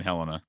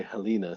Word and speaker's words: Helena: Okay, because I used to have family in Helena, so I just was curious. Oh yeah. And you pronounced it correctly. Most people say Helena, so I know you know your stuff.